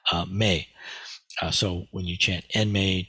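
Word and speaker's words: 命: This is pronounced Mei.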